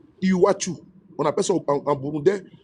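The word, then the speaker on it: Iwacu: Vous tapez I w A u Iwachu. On appelle ça en bourundais. J'ai je parle. Bon, c'est comme ça. Eux et il prononce et il dit pas iwaku mais il dit iwachu.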